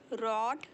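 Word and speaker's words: read: of writing पढ़ना रीड इस देखिए इसको बोलते हैं रेड इसे बोलते हैं रेड भले स्पेलिंग सेम है बट हम इसे प्रोन सिएट करते हैं रीड रेड रेड मुझे रात को पढ़ना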